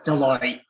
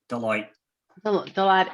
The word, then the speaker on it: Deloitte: Deloitte. Deloitte in Accenture.